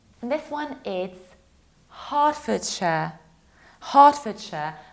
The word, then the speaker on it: Hertfordshire: And this one is Herefordshire, Hertfordshire, because we have middle ER that we pronounce like R. Heart, like my heart.